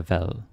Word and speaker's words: hvad: But if you end with a hvad, you have to say it correctly.